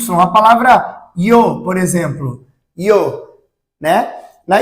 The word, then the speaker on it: yo: O Y tem um sonzinho de já, jo, já, yo, ya. Certo?